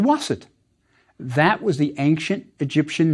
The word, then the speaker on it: Waset: you pronounce the word we have our waster but with a T at the end so it's waset but we also have a town determinative the crossroads so it's a city called waset that was the ancient